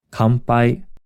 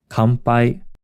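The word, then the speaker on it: 乾杯: Kanpai. Kanpai. In this case, the n is pronounced closer to an m sound.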